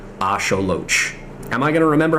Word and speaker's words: axolotl: something up fun fact did you know that that word is actually not pronounced Axel it's pronounced AO Loach at least in uh the uh Native pronunciation of uh nutal nah I don't know how to pronounce that uh but Aztec in the the Aztec language that it originates from it is pronounced Asolo am I going to